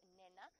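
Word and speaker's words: Nhenha: Nena. You go for it. Well, the H's You go. take that. It's N-H-E-N-H-A. So Nena, N-H-E-N-H-A. And it's pronounced basically N-E-N-A, but the H just slightly aspirates it, so it's not quite,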